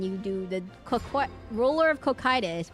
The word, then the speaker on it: Cocytus: the Ruler of Cocytus, which I learned is pronounced Cocytus. You do the Ruler of Cocytus, and then you do decline thing. Ruler of... Guys, you know how you actually pronounce... I know everyone is... It's cock. No. It's pronounced Cocytus. That's how... It's pronounced Cocytus. So everyone knows.